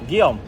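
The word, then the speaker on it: Guillaume: Gom. How do you spell that?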